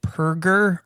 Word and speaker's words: Perger: pronunciation of your name is it perger or is it perer we got to we got to set this straight perer H burger with a p Burger classic coffee myths